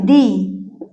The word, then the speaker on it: the: ঠিক আছে ভাল সাউন্ড ভাল সাউন্ড এর আগে ভাল সাউন্ডের আগে যদি টি এই থাকে তাহলে তার উচ্চারণ হবে তাহলে তার উচ্চারণ হবে কি? উচ্চারণ হবে দি। বোঝা গেছে? কখন দি বলব? যখন কোন ভল সাউন্ডের আগে আমরা টিচ এর প্রোনাউন্স করব তখন বলতে হবে। তাহলে কখন বলব? খুব সোজা। কনসোনেন্ট। Consonant sound. এর আগে যখন ডি এর উচ্চারণ হবে তখন কি বলবো? তখন বলবো দা।